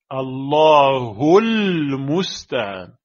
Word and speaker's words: الله المستعان: Allah al-musta'an. Allahu al-musta'an. Et avec la liaison, ça fait Allahul musta'an.